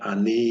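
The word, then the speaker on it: אני: Ah-no-KHEE would be the long way of saying it. Ah-NEE is the short way saying it.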